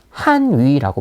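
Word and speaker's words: 汉语: 들어가는지 한번 맞춰 볼게요 중국에서는 중국어를 뭐라고 부르냐는 한 위라고 부릅니다 어 중국어 발음으로 론 한 위라고 얘기를 하거든요 같이 한번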